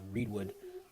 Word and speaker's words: Reedwood: The second meeting that I did was the Reedwood, make sure I pronounce that right, not Reedswood, but Reedwood Neighborhood Association.